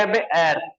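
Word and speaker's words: heir: nest दूसरा आ गया एर राइट एर क्या होता है जो कोई उत्तराधिकारी होता है उसको एर कहा जाता है तो क्या होता है यहां पे एच साइलेंट है तो यहां पे भी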